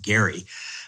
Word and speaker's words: Gerry: touch more about Elbridge Jerry than most probably do. Most Americans know nothing about this man Elbridge Jerry for whom this term is named or as he is said to have pronounced it Gary.